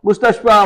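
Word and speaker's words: مستشفى: That y is not pronounced.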